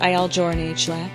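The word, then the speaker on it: Il Giornale: started his own coffee company called I joural pronounced iel jour which means the daily in Italian the name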